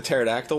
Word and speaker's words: pterodactyl: Jesus Christ everything the pterodactyl 1 No like why can't you hear a pterodactyl go to the bathroom why not because the P is silent oh yeah there's the